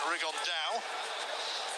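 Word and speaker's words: Rigondeaux: about fighting though or as he's correctly pronounced with the spanish accent rig on dao and two absent geniuses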